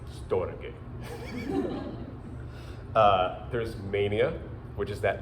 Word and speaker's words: storge: I originally didn't know how to say storge, so I did one of those Google pronunciation things, and it's like storge.